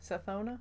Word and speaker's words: Sathona: Sathona. Sathona? Oh, yeah, I added an I. I'm good at adding syllables.